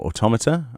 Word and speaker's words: Automata: I've not completed Nier Automata, or Automata, as people like to pronounce it sometimes.